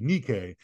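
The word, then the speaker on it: Νίκη: word that has become immortalized in American Footwear Nike and the Greek word Greek pronunciation would be Nikkei which means Victory and then we are told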